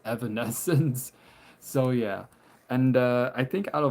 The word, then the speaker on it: Evanescence: Evanescence.